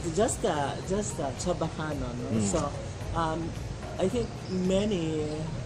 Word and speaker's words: Chabacano: linguists spell it away, but I think if you observe us when we speak, that's basically how we pronounce. We don't say Chaba.